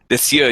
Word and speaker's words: Lisieux: It's Licieux. Is that how you say it? Lisieux? Lisieux, yeah.